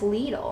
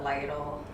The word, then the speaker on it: Lidl: but it's passable little I've discovered that's how you say it is Lidl I was gonna call it Lytle yeah I call it Lytle too because it looks like a Lytle so I hope this